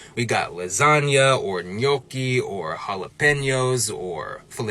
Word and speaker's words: lasagna: English speakers is that we've convinced ourselves that the G in lasagna is silent like so much so that even Lil Wayne wrapped about it one time but really it's not really right like if the G and lasagna was really silent like that we probably pronounce the word more like Lasana but we don't we give it a n Sound and that n is signaled by that GN combo and in linguistics that